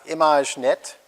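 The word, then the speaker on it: Imagenette: the first data set is called image net which is a very french as in here and there's some you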